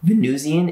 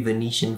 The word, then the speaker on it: Venusian: just a side note venusian is not how i expected it to be pronounced i thought it was going to be venetian for some reason they were looking for